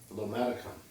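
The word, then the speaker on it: lomatium: Some examples of this would be lomation, or sometimes it's pronounced lomaticum.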